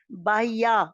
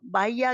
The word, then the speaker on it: बाह्य: बाह्या, बाह्या क्या है? बाह्य शब्द है। बाह्य, बाह्या कोई शब्द नहीं है।